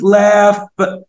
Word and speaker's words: laugh: تعال بقى ناخد كلمة laugh يعني يضحك بصوت عالي. الجي اتش هنا بتتنطق اف.